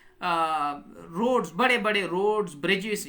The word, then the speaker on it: borough: Spelling है BOROUGH, ठीक है, बारो।